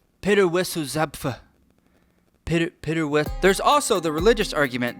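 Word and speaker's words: Zapffe: Peter Wessel Zapp? I'm not pronouncing that right. Peter Wessel Zapf. Peter Wessel Zapf.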